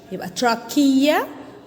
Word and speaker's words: trachea: called trachea called tr notice that ch like school ch chemistry also start with ch trachea it is a tube